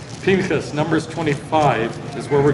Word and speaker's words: Pinchas: Pinchas, Numbers 25 is where we're going to be. Pinchas is Phineas is the way it's pronounced in English. Pinchas.